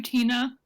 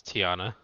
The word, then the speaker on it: Tiana: To Tina. Oh, I said it wrong. It's Tiana.